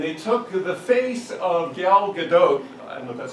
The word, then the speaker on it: Gal Gadot: deep fakes and they took the face of gal gadot I know that's how you say her name